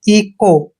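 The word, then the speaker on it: echo: ई करते हैं और यह ध्यान रखना सी एच के बाद जब भी ओ आता है तो सी एच का उच्चारण आपने क करना है और ओ को ओ की मात्रा पढ़ना है इ को इको मींस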